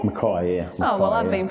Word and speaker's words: Mackay: that's nice yeah so you pronounce it makai not mckay makai yeah oh well i've